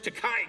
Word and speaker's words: Takei: us ity everybody George teai came in it was crazy it's pronounced te uh Jim Rash came